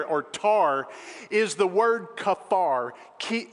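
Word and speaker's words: כֹּפֶר: tar is the word kaffar ki it's transliterated c-a-p-h-a-r some pronounce it kapar some pronounce it kafar depending on where you come from that word in the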